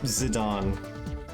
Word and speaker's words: Zidane: It's Zidane. That is the official pronunciation for his name.